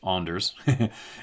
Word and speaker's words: Anders: Anders, pronounced Anders, and Darren, quote, Anders and Darren, you now work together?